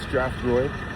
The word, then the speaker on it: Strathroy: So I made it out here to Strathroy, that's what it's called, pronounced Strathroy.